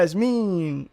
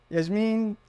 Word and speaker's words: Yasmeen: do you say your name you're lying yeah Yas mean everyone Yas mean how do you say your caner caner I